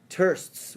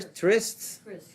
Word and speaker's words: trysts: your wife has had thirsts with many men okay thirsts what does that mean tur trysts thank you i didn't know how to pronounce that zan saw she did